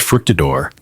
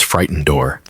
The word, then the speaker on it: Fructidor: Another mispronounces fructidor as frightenedor.